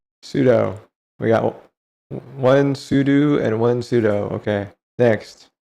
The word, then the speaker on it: sudo: Sudo or it's also often pronounced sudo, but it's spelled sudo.